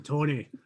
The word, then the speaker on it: Togna: and i am tony it looks like it's spelled togna but it's like baloney i am tony i'm a hill dwarf